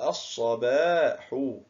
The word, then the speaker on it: الصباح: لاحظ معي، عندما دخلت اللام على كلمة الصباح في آل التعريف أصبحت الصباح، ولكن اللام هنا كتبت ولم تنطق، إذن فهي لام، أحسنت، لام شمسية.